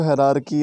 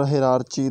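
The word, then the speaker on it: hierarchy: ठीक है, इसको हायरार्की और हायरार्ची दोनों पढ़ते हैं, जिसका मतलब होता है दर्जा बंदी, कि स्मॉल लेवल से अब हम बड़े लेवल्स पे जाते हैं।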